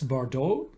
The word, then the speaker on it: Bordeaux: That's Bordeaux. You don't spell the X.